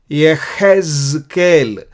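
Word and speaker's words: יחזקאל: और यहेजकेल को थोड़ा डिफरेंटली प्रोनाउंस करते हैं, यहेजकेल। यहेज यहाँ पे जा है, ये अक्षर जा है हिंदी में, जा। सो ज छ छ जा झ वो है हिंदी में, लेकिन ज साउंड आता है, ज साउंड को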